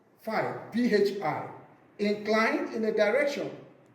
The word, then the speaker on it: phi: The resultant R1 is inclined at an angle phi, pronounced phi, PHI, inclined in a direction away from the direction of sliding.